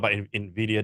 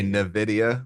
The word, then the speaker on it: Nvidia: like doing good things no you actually said it right A lot of people say Nidia which really grindes my gears go ahead so what